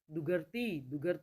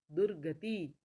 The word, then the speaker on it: दुर्गति: वह लगता है चरमोत्कर्ष दुगर दुगर गलत है ना दुर्गति दुर्गति दु के बाद बोल रहे हैं र और लगा रहे हैं ग के ऊपर सरमत सरमत तो इसको